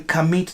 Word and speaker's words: Kamit: In Kamit, the T is not pronounced.